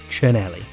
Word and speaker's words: Cinelli: one more just for luck is this a cinelli or a chinelli unlike bianchi the sea is hard so this famous brand should be pronounced chaneli there's probably a whole load more and i'm